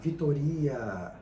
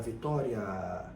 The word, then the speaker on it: Vitória: a pronúncia desses fonemas ninguém fala Vitoria Vitoria a gente fala Vitória Então veja que o a é mais longo o a sendo mais